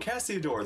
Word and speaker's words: Cassiodor: Oh, Cassiodor.